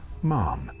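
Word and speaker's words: Mahon: That's spelled Mahan, but he came from Irish stock and it's pronounced Mann.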